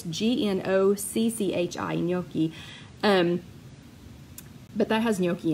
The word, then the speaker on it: gnocchi: for a summer and that was how we pronounced it. And they brought it to us. So it must be close, but it's G-N-O-C-C-H-I gnocchi.